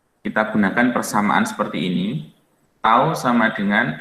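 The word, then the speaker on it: τ: Torsi ini disimbolkan dengan simbol seperti ini bacanya tau.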